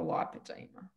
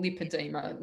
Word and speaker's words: lipedema: I don't have the lymphedema, I have the lipedema or lipedema, depending on what country you're in, as to pronounce it.